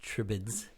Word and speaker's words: Tribades: up so it's uh the word is complicated but it's pronounced tribids oh we purposely found